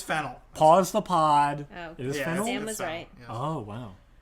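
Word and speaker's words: Fennell: I thought it was fernel is there an r in there I thought it was just fennel we're gonna have to fact check this it's fennel pause the podel oh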